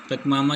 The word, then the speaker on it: Pachamama: पकमामा क्या है, ये पकमामा बोलते हैं इसका, ठीक है, प्रोनाउंसिएशन।